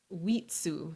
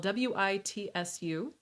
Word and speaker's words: Witsu: And then our last epithet is going to be Wheatsu. So this is spelled W-I-T-S-U. Wheatsu.